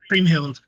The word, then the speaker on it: Kriemhild: And Well, then Creamhild on the left is the one in all black with the black bow. did Her story is more short. you say Cream Huh? Hill? Creamhild.